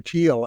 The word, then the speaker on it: Thiel: I think it's pronounced Thiel, T-H-E-I-L. Thiel.